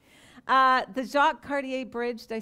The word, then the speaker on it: Jacques Cartier: The Jacques Cartier Bridge, did I say it right?